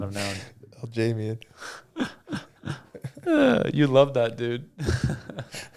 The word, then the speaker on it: Aljamain: Aljamain Sterling versus Calvin Kattar. Yo, you used to call him Aljamain forever.